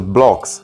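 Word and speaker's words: Bloxx: É a mesma pronúncia, Blocks.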